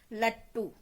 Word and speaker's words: लट्टू: जैसे देखिए सामने आप, लट्टू, हम ट को पूरा लिखेंगे लेकिन उसके नीचे हम हलंत लगा देंगे, तो उच्चारण में समझ में आ जाता है कि हमें इसका आधा उच्चारण करना है, स्वर रहित उच्चारण करना है।